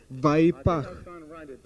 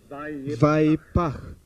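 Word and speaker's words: וַיִּפַּח: Оно произносится как «вайпах». Я не умею писать на иврите, поэтому я напишу это слово английскими буквами. Вайпах. Если вы не знакомы с языками семитской группы, вам будет трудно произнести последний звук в этом слове. Звук «х».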